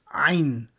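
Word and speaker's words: عين: such a way that there is like a catch in the bottom of your throat ein it's not in any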